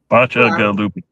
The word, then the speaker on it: Bacigaluppi: no, Bacigaluppi. Try like BOTCH, botch, UH, GUH, and then loopy. Bacigaluppi.